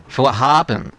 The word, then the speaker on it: Vorhaben: Chữ "n" ở đây gần giống chữ "m" trong cách phát âm. "Vorhaben".